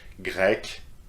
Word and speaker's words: grec: Turk, Turk, pronounced the same, but you see that the spelling is quite different. Grec, Grec.